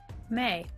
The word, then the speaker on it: Mai: May. Is May. May on the board. It is spelled Mai. Interestingly, it is May in the show.